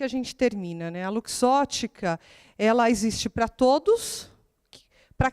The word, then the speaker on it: Luxottica: fez uma brincadeira aí porque Lux Ótica a gente não é tão simples pronunciar a gente já escutou luxotic a luz Ótica enfim aí eu falei para Miriam Miriam separa Lux Ótica acho que é a forma mais fácil de se pronunciar bom falar um pouquinho